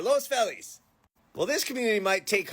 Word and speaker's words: Los Feliz: So, what about Los Feliz or Los Felis?